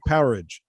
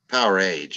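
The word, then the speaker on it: Powerage: or Power Rage? Power Age, actually. Power Age. Yeah, it's not Yeah. Power Age. It's Power Age. So No, the idiots for on all- that show, that metal show, pronounced it wrong.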